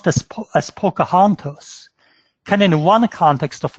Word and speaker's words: Pocahontas: string of letters P all see aah-ohh npas pronounce this as pocahontas and in one context of naming refer to